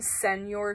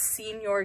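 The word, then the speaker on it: Señor: call Senor carrots they call him send your carrots that's so annoying like it's not how you say it it's Senor carrots but anyway that's just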